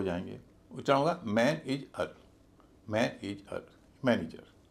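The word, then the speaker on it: manage: यहां पर भी एज इ जो है ऋषि कपूर बन जाएगा और उसका उच्चारण एज ना होके इज होगा। इस पूरे शब्द का उच्चारण होगा मैन इज। मैन इज ना कि मैन एज।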